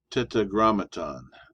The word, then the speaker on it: tetragrammaton: tetragra tetragrammaton. That's how you pronounce that word.